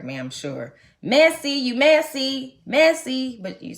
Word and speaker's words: merci: Mercy. They had to correct me. I know how to say it now because I've been corrected so much. Mercy is thank you. But it's messy, like messy.